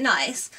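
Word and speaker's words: Nicce: Last item now, and I got this tee from, I think it's pronounced Nice, even though it's got 2 C's.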